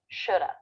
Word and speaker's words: should: All we're left with is the schwa, shoulda, woulda, coulda. Note that the L is silent in these words, and they all have the vowel as in book, where the lips flare a little bit and there's It's coming.